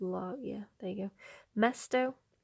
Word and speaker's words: mesto: yeah there you go Mesto this one rhymes with the word pesto so pesto I don't